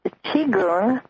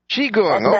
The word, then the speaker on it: Qigong: It's pronounced Qigong. Qigong, okay.